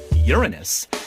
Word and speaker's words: Uranus: Even if you try to avoid calling it Uranus by pronouncing it Uranus, you still have to say urine, and everyone knows you mean your anus.